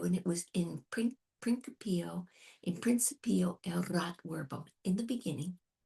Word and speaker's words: principio: Sometimes I pronounce my C's in principio. Yeah. They have a rule on that, depending on which Latin you're using, classical Latin or church Latin. So we're doing classical, so I have to pronounce a hard C.